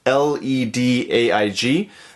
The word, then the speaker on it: Ledaig: This is the Ledaig 10-year. So here it is. The Ledaig 10-year. So, spelt L-E-D-A-I-G, but as far as I understand, the pronunciation is Ledaig.